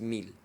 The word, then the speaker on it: Mil: little annoying to me because she calls him Mil, and the Spanish pronunciation is Mil.